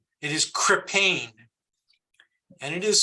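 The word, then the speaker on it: Krippahne: and it is hang on spelled it is crippane and it is spelled k-r-i-p-p-a-h-n-e okay okay k-r-i-p-p-a-h-n-e got it thank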